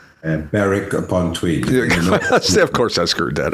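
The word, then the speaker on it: Berwick-upon-Tweed: Uh, Burwick, I guess the proper way to say, Burwick upon Tweed. Beric upon Tweed. Of course I screwed that up. Bareric, you don't pronounce the WW.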